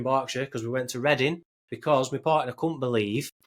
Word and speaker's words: Reading: like cuz it is it is how you spell reading but it's just how it's pronounced isn't it? It's just yeah we just call it reading.